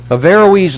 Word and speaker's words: Averroes: you should remember it it was averroes i think that's the proper pronunciation averroes lived from 1126 to